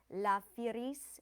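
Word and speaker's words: La Fireez: La firis with desire ease.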